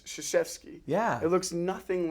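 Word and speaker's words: Krzyzewski: say his name because it's it starts with a K and it's shashki yeah it looks nothing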